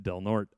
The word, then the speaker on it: Del Norte: del norte it's spelled del norte but it's pronounced del norte um around 5 pm eat some food and